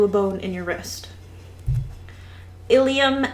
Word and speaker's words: ilium: bone in your wrist ilium and ilium these aren't even pronounced differently um instead of an